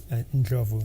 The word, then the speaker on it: Ndlovu: How do you pronounce it? Ndlovu. Ndlovu.